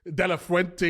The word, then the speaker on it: de la Fuente: If you look at the Spain manager, how do you pronounce his name again? Who just won the Euros? De La Fuente.